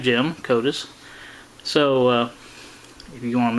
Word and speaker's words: Kodysz: And he even pronounced it Kodysz, just like the internet said it was.